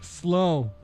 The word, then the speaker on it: Slough: Is that slooge? Slow. Slow. Is that splooge? Slooge. I hope it's not splooge. Spell it.